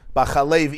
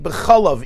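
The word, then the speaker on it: בחלב: I could say loi sevashal gdi b'chalav imoy. I mean, you could say b'chalev imoy. You could say b'chalav imoy. Don't cook a goat in the fat of its mother, which is also meat. No, it's milk. How do you know it's milk? Because we know how to pronounce the words.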